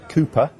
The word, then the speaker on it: KOOPA: Well, let's talk this one through now with Joe Murphy, who's the lead singer from the band KOOPA. Is that how I pronounce it, Joe? That's correct, yes. KOOPA, spelled with an A.